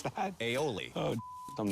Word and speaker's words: aioli: How do you pronounce that? Aioli.